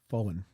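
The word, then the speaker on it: Vauen: So, this is this is the Vaughn 125th anniversary Zeppelin pipe. I say Vaughn, it's actually pronounced Fen, right?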